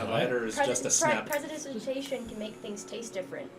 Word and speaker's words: prestidigitation: Because it's prestidigitation. Do you want to know how he says it? Prestidigation. Prestidigation. I can't say Prestidigation. He can say it correctly, but he said it wrong one time and it pissed me off, and now he won't stop. And he always calls it prestidigation, and I want to beat him senseless.